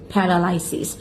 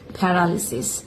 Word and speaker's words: paralysis: শব্দটা সবাই যেভাবে উচ্চারণ করে থাকে সাধারণত সেটা হলো প্যারালাইসিস। এই শব্দের সঠিক উচ্চারণ হলো প্যারালালিসিস।